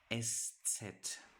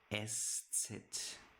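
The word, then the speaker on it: Eszett: And then the one that you not know how to pronounce yet or most of you never heard of it. It's called estet estet estet.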